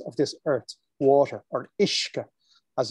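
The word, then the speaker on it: uisce: magic of entities of this earth water or ishka as it's pronouncing the gaelic language similar to how the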